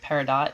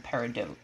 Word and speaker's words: peridot: it looks pretty cool going off the french pronunciation okay both are correct as i say i feel like i've heard it both ways but i feel like peridot is what i hear more often than peridot pacifica uses it okay